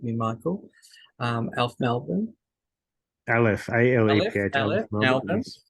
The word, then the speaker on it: Aleph: And Michael Barnett is a long-time co-convener of ALF, and I probably didn't pronounce that correct, so please correct me, Michael. ALF Melbourne. Aleph, A-L-E-P-H, Aleph Aleph, Melbourne, Melbourne.